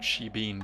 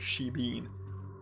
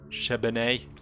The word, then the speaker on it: shebeen: over again, that word shebeen. I need to go have a chat at a shebeen. Shebeen? Shebene? No, definitely not pronounced that way.